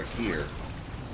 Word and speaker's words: Hakir: And then I like twisted it a little bit, added a Y, and then changed the proper pronunciation to Akir.